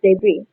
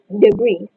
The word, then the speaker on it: debris: Debris. Debris. And here is the correct pronunciation. Debris. So, this word is often mispronounced because the learner follows uh the spelling and try to pronounce the final s, which is debris.